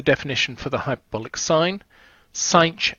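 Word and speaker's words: sinh: ok here's the definition for the hyperbolic sine sine X is how we pronounce it and this is 8 the X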